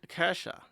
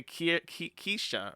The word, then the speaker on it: Kesha: It's like Kesha is how you say that name, but they say Keisha or something like that. That's wrong.